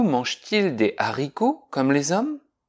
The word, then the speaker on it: hommes: Ici, on t'a fait pratiquer la différence entre le H aspiré, comme dans hibou et haricot, sans liaison, on dit les hiboux, les haricots, et le H muet, comme dans homme, on dit les hommes.